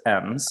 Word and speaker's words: Ems: her down the River Ems. Which is that how I say that? That's how you say it. It's Ems. Okay. Oh, like, look at how beautiful. Like plural M.